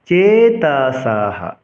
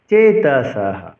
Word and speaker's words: চেতসঃ: লোভৌ পহত চেতসঃ। চেতসঃ দন্তস্বকে এসের মতো উচ্চারণ করতে হবে এবং ছন্দের গঠন অনুসারে বিসর্গ যদি কোনো শ্লোকের শেষে থাকে তবে বিসর্গের উচ্চারণ হ করতে হবে। লোভৌ পহত চেতসঃ।